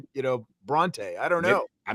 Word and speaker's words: Brauntae: He did say Bronte, right? Like he did say Bronte.